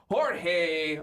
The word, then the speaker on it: Jorge: Jorge Balderas. Well, I could have said George, but I'm thinking it's Jorge.